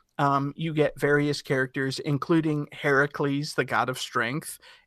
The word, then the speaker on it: Heracles: Heracles, Heracles, Who the hell's Heracles. Heracles? So Heracles is the original Greek pronunciation and spelling of it.